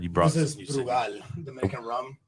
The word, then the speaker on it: Brugal: Brugal. Brugal. So you trill your R's.